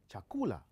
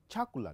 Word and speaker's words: chakula: That becomes chakula. You can't put a stress on the first syllable. You can't say chakula. No, we don't speak in that way. And in case you cannot even say chakula. No. That a stress has to be on the second syllable from the last.